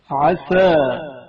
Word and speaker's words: عسى: عسى سین کی آواز ہلکی اور باریک سنائی دی جائے گی. عسى عسى عصا صاد کی آواز موٹی اور پر سنائی جائے گی.